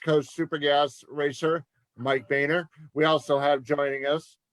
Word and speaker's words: Boehner: And it's pronounced Boehner, like the former Speaker of the House, Boehner.